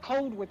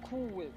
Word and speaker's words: Cool Whip: whip cold whip whip it's not cold whip it's like cool whip like Cool Whip basically